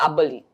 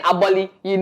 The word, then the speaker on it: Aboli: Because I was saying Aboli, like just the typical Ghanaian way, but he has his way of pronouncing it, and that is Aboli.